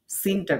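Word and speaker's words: س: আর সিনটা হচ্ছে একেবারে এই যে জিহ্বার আগা নিচের দাঁতের সাথে লাগিয়ে। এটা কিছুটা শিস দিয়া মতো উচ্চারিত হবে।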